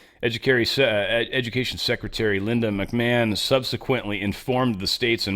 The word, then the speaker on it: McMahon: Well, Linda McMahan pulled that back or McMahon, sorry, McMahon. I just just so naturally want to call her McMahan. Uh but she uh cuz it's spelled that damn way.